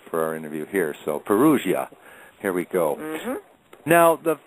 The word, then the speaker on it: Perugia: perua they don't pronoun they don't pronounce the G it's the G I knew they peria okay well I'll I'll try to remember that for our interview here so Perugia here we go now